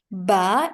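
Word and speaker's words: ب: Ba is the right pronunciation in Arabic.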